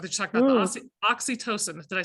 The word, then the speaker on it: oxytocin: We have an adventure for the hug drug that you talked about, the oxytocin.